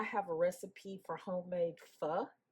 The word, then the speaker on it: pho: Um I have a recipe for homemade fu that's spelled pho pronounced fu.